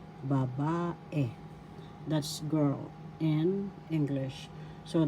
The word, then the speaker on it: babae: ba third syllable e the second syllable ba has the accent so you pronounce this as babae babae that's girl in English